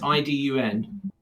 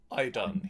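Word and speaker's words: Iðunn: I can't remember how to pronounce it. Is it... it's Idun. Idun, yes.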